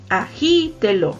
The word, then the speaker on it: agítelo: izquierda nos acomodamos verdad entonces está la sílaba tónica en la e agite lo es una palabra esdrújula entonces se tildó así